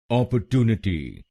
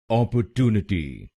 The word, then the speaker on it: opportunity: और इसमें भी आप तीसरे शब्दांश पर यानी TU पर जोर डालेंगे। अपॉर्चुनिटी, अपॉर्चुनिटी।